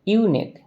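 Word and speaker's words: unique: was blank यूनिक side यूनिक या से इसका उच्चारण या से चालू हो रहा है अब या तो छोटा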